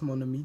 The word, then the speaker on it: mon ami: The N from mon links to ami. Mon ami.